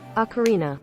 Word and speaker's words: Ocarina: How to pronounce Ocarina? So, knowing that, Ocarina.